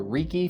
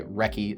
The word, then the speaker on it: REKE: I would also venture a guess that that Wrecky culture influenced the pronunciation of the name of the scope mount re. I had been calling it the Ricky for the longest time, but I did watch